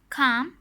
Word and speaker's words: calm: Talk, walk, half, calm, palm. The letter L is silent in these words.